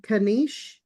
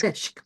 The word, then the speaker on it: Kanishk: All right, first up is, I know I'm not going to say your name properly, Kanish. I'm sorry. I know I said your name wrong, but welcome. Hello. It's Kanishk, welcome.